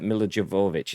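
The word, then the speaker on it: Milla Jovovich: anderson and starred uh milo javovich is how you pronounce it djokovic yeah mj gross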